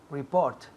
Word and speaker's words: report: Report. Muy bien. Report. Report. El énfasis cae en la segunda sílaba. Report. Report. Y aquí escuchar la T al final.